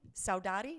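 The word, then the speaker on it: saudade: i'm not sadati saudaudi saudari i'm pronouncing it with a hispanic accent i think that yeah that's perfect yeah okay um they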